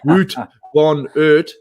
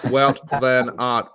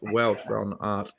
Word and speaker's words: Wout van Aert: It's not Wout van Aert, but Wout van Aert, pronounced Wout van Aert."